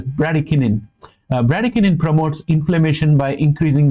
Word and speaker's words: bradykinin: I think it's pronounced as bradykinin.